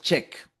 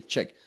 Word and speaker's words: Czech: This word, by the way, esta palabra medio extraña quiere decir que es checa, que es de República Checa, y pronunciamos Czech. Okay, Czech.